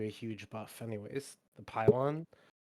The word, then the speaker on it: pylon: The pylon, it's massive. Yeah, I don't. So, I mean, once they're in there, they're entrenched. I believe it's pronounced pilon. It's not. I think it is.